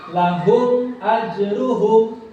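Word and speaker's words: لَهُمْ أَجْرُهُمْ: Cara membacanya idhar syafawi itu harus jelas. Tidak boleh samar, tidak boleh ada dengung. Ya, harus jelas. Ketukannya harus jelas. Lahum ajruhum. Jangan lahum. Nah, itu keliru.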